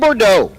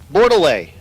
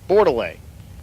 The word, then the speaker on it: Bordeaux: Dave Bordeaux in the left lane. Bordeaux with the Hellcat. Bordelais. Stevie's here. Bordelais. He told me that earlier. And was like, yeah, I told Stevie how to say it.